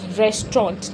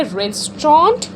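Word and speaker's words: restaurant: Know the word is रेस्टोर। इसका जो last का टी होता है वो हमेशा साइलेंट रहता है। So guys in this like the वे यू से रेस्टोरेंट नो इट इज़ a wrong pronunciation. You should say द रेस्टोरेंट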